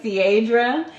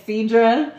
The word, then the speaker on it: Cedra: Because you're saying my name Cierra and it's Cedra.